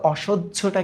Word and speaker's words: অসহ্য: হ্যাঁ, অসহ্য, মনে রাখো যদি এই জফলা পাও, হয় জফলা, তাহলে হয় জফলাকে যখন আমরা ভাঙাবো প্রথমে পাবো জ, তারপরে পাবো ঝ। তাহলে এবার বলো তো অসহ্যটা কি হবে?